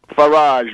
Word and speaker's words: Farage: This guy Farage of the UK Independence Party, a true scoundrel. Farage. Farage rhymes with garbage.